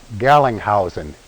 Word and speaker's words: Gerlingshausen: The components of uh and I'll try to pronounce it the way I've been told by a German, our last name would actually been pronounced in Germany. It's something like Gallinghousen. It's somewhere between the phoneticization of my last name and having that R in there that uh that was still sort of a guttural in the German pronunciation.